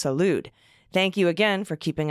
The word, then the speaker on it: Salud: note that rep carbajal my rep's first name is pronounced Salud thank you again for